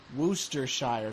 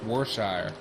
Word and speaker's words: Worcestershire: the driving cars guys i'm learning how to pronounce that word worcestershire i've always heard of just pronounced warshire and yeah i could be wrong it's not like it's not how it's spelled at all no it